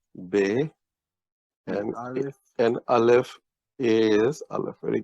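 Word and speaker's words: بے: And B in Urdu is pronounced Be.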